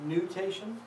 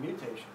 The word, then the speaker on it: nutation: I thought you were saying mutation.